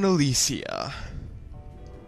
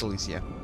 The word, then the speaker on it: Elysia: we okay open door Sky Town Alisia or Elise no it's elisia I don't know how